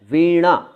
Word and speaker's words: वीणा: तो साहब इसका उच्चारण है वीणा, वीणा, हल्का सा नज़ल, वीणा नहीं वीणा, एकदम णा भी नहीं, ड़ा और णा के बीच का, वीणा वीणा, ठीक है।